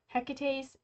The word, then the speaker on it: Hecate: Hecate's Tears.